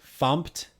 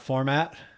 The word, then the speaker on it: fmt: So FMT is pronounced fumped. Yes, fumped, not format. For some reason, it's fumped.